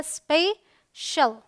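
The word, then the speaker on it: special: चलिए rule number two अगर सी के बाद आई ए या फिर आई ओ आए तो सी का उच्चारण जो है वो होता है श ठीक है यह ध्यान में रख गा सी आई ए हो या सी आई ओ हो तो देखिए यहां पर सी आई ए तो यह है स्पेशल ऑलराइट स्पेशल अब यहां देखिए ओ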